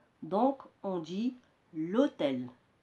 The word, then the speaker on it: l'hôtel: Donc on dit l'hôtel. On a élidé, c'est-à-dire supprimé le E ici, la voyelle, et on l'a remplacé par le signe apostrophe.